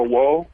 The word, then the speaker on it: Whoa: It's called Woe Poker, and it's each letter stands for so Woe is spelled WHOA.